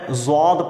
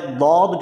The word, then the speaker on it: ضاد: یاد رکھیے گا کہ نہ تو یہ دال کے مشابہ تلفظ اس کا ہے، نہ زال، بلکہ ان دونوں کے درمیان ہے۔ یہ بین ایک تلفظ ہوتا ہے، دال اور زال کے بین۔ اس لیے آپ دیکھیں